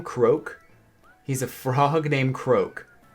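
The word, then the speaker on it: Croque: is that his name croak he's a frog named croak but it's spelled CRO quue okey okay hey Brewster we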